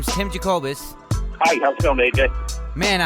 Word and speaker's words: Jacobus: very talented guest today his name is Tim jacobz hi how's feeling man I hope I didn't mess up pronouncing your name you got it right that's